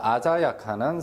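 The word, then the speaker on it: 鮮やか: 자, 여러분들 거기 프린터 보시면 한자 선명하다 할 때 선자가 됩니다. 자, 그래서 아자야카라고 읽죠.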